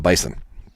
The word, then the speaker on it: Bison: The Bison, the Nitwits of the North. And it's Bison with an S.